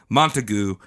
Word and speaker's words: Montague: me pronunciation pronunciation Montague it's montagu that's what I'm calling it it's like a mountain of Goo all right well maybe